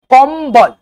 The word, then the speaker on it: कंबल: उच्चारण करो आप लोग कबल कंबल यानी क म आधा ब अल कंबल तो ये जो बिंदी